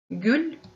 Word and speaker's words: гүл: Маргаритка, дастюргюль, цветок, гюль, традиция, дастюр. Обратите внимание, слово гюль мы тоже «л» говорим мягко, как будто с мягким знаком.